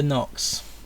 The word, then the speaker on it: Knox: Special mention: Amanda Knox. K is silent.